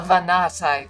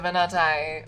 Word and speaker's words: Vanati: to now on the Vanati people. The Venati. Oh. Oh, here we go. Vanati. I was kind of doing it right. Uh, the Vanati. Vanati. I don't know where the syllable stress goes.